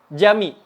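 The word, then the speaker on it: cami: Kalau yang nggak ada buntutnya, kayak yang baru kita sebutin tadi, itu dibacanya J. Mirip dengan huruf J di bahasa Indonesia. Contohnya apa? Contohnya jami.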